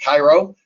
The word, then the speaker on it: CIROH: research operations and hydrology which is pronounced cairo and obviously that's a